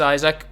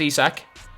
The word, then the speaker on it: Isaac: Stop saying it's Isaac. Well, it's spelled Isaac, so it's very, very understandable, but like, it is pronounced Isak.